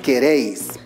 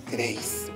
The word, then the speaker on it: queréis: En la palabra queréis debemos identificar dónde se encuentra la mayor fuerza de voz. Inténtalo en casita. ¿Queréis? ¿Dónde se encuentra la mayor fuerza de voz? ¡Correcto! Se encuentra en la última sílaba.